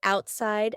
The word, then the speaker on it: outside: and took it outside the word outside has a t in the middle but because this word is kind of two words put together out inside we're going to have a stop there in the middle this is a little bit of an exception all right let's go